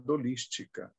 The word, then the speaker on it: holística: graça e no conhecimento a pronúncia se nós estamos falando na língua portuguesa deve ser falado dolística né porque o h ele é mudo na língua portuguesa ele não tem som então nós precisamos usar